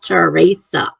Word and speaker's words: Teresa: spelling and pronunciation is terasa even though it's t r Esa it's pronounced terasa Teresa I can't roll the RS like they do but I like that